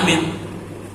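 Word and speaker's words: آمين: maupun Imam baca Amin Bacanya jangan satu Amin alifnya panjang mimnya panjang k mati jangan dirubah-robah geririlubiaihim wadin Amin salah kenapa Amin jujur tu enggak ada urusan S Fatihah dengeranak tuh iya ada juga bacanyaaiinin pakai tasdid salah juga paham gak tuh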